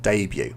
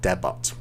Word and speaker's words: debut: debut in debut um we don't say the T here because it's really from a French word debut and often the French words they they don't pronounce the last letter so debut rather than deot debut uh to win